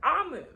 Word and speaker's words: Omu: A note to the reader or the listener, Omu is pronounced Omu.